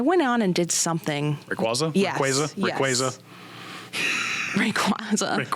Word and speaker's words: Rayquaza: Rayquaza. Rayquaza. Ray Rayquaza. Rayquaza. Rayquaza. I think I say Rayquaza, honestly. Rayquaza. No, Rayquaza. Rayquaza. Pokemon said it's Rayquaza.